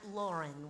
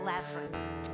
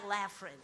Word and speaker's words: Laughrun: So, but it's pronounced Lauren, even though it looks like Laffin. So, uh, if you're searching them out, look for Eli Lafren.